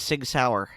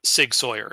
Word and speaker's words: Sig Sauer: all this time because I thought it was Sig Sauer it is I said I mispronounced it okay and you are not alone